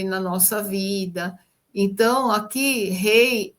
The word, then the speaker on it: Hey: Ela tem essa pronúncia, né? Rei. É, é como aquele H de horse em inglês, né? E esse H, que é um H aspirado, ele vem como um sopro.